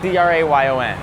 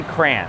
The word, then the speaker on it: crayon: Now, this is only because I'm from Chicago, I say how do you say c r a y o n? Okay, I say cran cuz some people say crayon, which I'm like we're not in France.